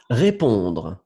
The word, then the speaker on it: répond: Répondre. Elle répond. Oui, même chose ici. Répond. Le D, vous ne prononcez pas.